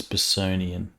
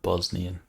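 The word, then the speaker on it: Bossonian: It's Bosonian, not Bosnian. Bosonian.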